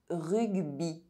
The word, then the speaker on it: rugby: Y is pronounced I when at the end of a word and preceded by a consonant. Rugby.